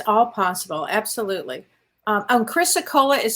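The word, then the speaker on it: chrysocolla: it's all possible it's all possible absolutely and Chrissa Cola is spelled c-h-r-y-s-o-c-o-l-l-a Chris okola okay hopefully you can find that and look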